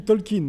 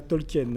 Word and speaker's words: Tolkien: Les gars, on dit Tolkien et pas Tolkien, hein, la bonne prononciation, c'est ça.